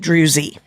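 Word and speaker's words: Druy: wondering how to say it's spelled D Ru Y and I looked it up and it you're supposed to say it drewy and it's they're supposed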